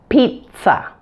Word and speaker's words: pizza: like a Z but it is not pronounced with a Z in this word it is actually pronounced pizza in both American and